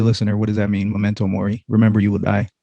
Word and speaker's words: Memento Mori: Is that how you say it? Yeah. Memento Mori.